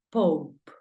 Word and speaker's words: Pope: Lo primero que veo es que termina en E. Por lo tanto, la E no suena. ¿Y cuántas consonantes hay? Hay una P. Entonces la O ya sabes que suena O. Por lo tanto, papa, ¿cómo lo pronuncias? Dímelo. Muy bien. Pope. La pronunciación de papa es Pope. Sonido abierto de la O. Pope. Y la de final, pues ya sabes que no suena.